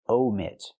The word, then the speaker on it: omit: But she wants to say omit. Use a long o like no and go. Omit.